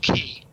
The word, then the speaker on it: Quay: Triskel Key, or as they call it, Triskel Quay. Q-U-A-Y? Well, actually, Q. Yeah, that's pronounced key.